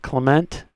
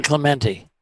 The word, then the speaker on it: Clemente: his 60 in in uh San is it Clement is that how they pronounce it San Clemente Clemente thanks Doc coffee and a Simmon roll